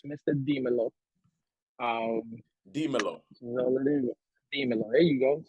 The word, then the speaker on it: Mr. Dimelo: I've had so many ways of saying it, but it's Mr. Dimelo.